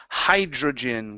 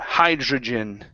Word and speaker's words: hydrogen: good good let's try hydrogen give me a j sound hydrogen hydrogen good one more